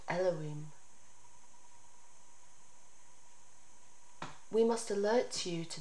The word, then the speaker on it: YHVH: And from Habukkuk, YHVH Adonai, pronounced Elohim, my strength.